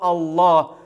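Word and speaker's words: الله: арабском языке языке корана является слово алла которая произносится через твердую л давайте посмотрим как это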